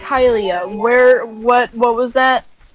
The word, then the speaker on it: Hylia: lab nothing like helium hylia um it saddens me that you pronounced it helia at least i remembered to start with an h what did you get